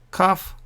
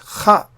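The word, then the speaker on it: כ: If there is no dot here, it is pronounced kha, and when there is a dot, you pronounce ka.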